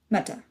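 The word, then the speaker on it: متى: Next is when meta. This is about the same as in standard Arabic.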